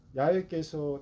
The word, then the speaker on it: 야훼: 오늘 본문 9절에 보면 야훼께서 다윗에게 맹세하신 대로 맹세하셨다, 이런 말씀이 나옵니다. 참고로 저는 구약 성경의 여호와라는 이 하나님의 이름을 히브리어 원문 발음에 가깝게 야훼라고 읽습니다.